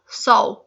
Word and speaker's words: sal: एल जो है क्योंकि ओ हो जाता है तो स्पेलिंग वो SAL है, साल, लेकिन पढ़ते जो है वो उसको साओ। और बाद में ये स्पून